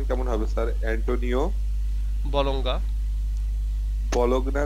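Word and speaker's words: Bologna: হ্যাঁ sorry to disturb you বাট এই নামটার উচ্চারণ কেমন হবে স্যার অ্যান্টনিও বলঙ্গা বলগনা না বলার স্যার ও আচ্ছা বলগ না হ্যাঁ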